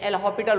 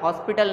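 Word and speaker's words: L'Hôpital: ये एल हॉपिटल rule है, हालांकि इसका देखो जो प्रोनाउंसिएशन है वो हॉपिटल ही आएगा, हॉस्पिटल नहीं आएगा, राइट है।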